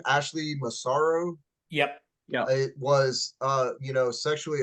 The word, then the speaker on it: Ashley Massaro: is how do you pronounce her name? Ashley Massaro.